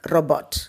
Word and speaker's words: robot: Actually, robo kadaiyadu. Okay, so the T should be pronounced correctly. Understand? Robot.